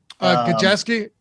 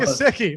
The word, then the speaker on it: Gesicki: Is that how you pronounce his name? Gajeski? Gajeski. Wait, no, that's that's my co-host. Mike Gesicki.